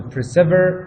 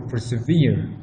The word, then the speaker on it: persevere: Persevere is an archaic word for persevere. It's now what we know as persevere. Back then it was pronounced as persever, so it rhymes with the last word of the next line.